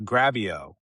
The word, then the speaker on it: Grabyo: I am here as we speak with Gareth Capen, the longtime CEO of the very interesting Gravio, which rhymes with video, which is what they do.